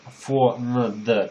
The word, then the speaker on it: фонд: И опять смотрите, фонд пишется на д, а звучит всегда т, т на конце.